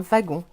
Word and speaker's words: wagon: on est pas au wagg ont effectivement on dit pas un waggon on dit un wagon c'est vrai mais mais